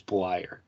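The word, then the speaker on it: Bleier: show tim uh richard bleyer is that how you pronounce it reliever for the marlins mark uh yes i believe it's blyer okay so uh had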